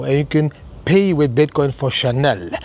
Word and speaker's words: Chanel: But whatever you want to buy in Chanel with Bitcoin, you go to South Africa now and you can pay with Bitcoin for Chanel. Chanel. Maybe I should pronounce it a little bit more French.